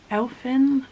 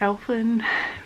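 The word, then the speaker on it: Elfn: don't know so it's i think it's pronounced elfin but it's e-l-f-n uh she does have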